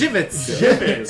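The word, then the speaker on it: Żywiec: instance like something pronounced that amazing thing it's pronounced jivit and dis one oh that's what I I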